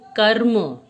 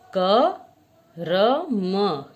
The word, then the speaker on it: क्रम: कर्म क्रम कर्म क्रम अब देखिए इन शब्दों में क्या फर्क आता है इस तरह के शब्दों के उच्चारण में र यह वाला र जो होता है वह आधा होता है जिसका हमने इस चिन्ह को देखा है जिसे हम रेफ कहते हैं इसका यह मतलब हुआ